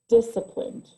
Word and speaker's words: disciplined: one for everyone right this one has a c in it that really throws people off because they think oh i need to pronounce the c but not in this instance in the word disciplined we see dis si plint disciplined okay so always remember that